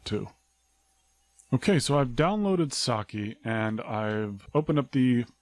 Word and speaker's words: psake: but I'm assured that the correct pronunciation is sake like the Japanese wine think like you're pronouncing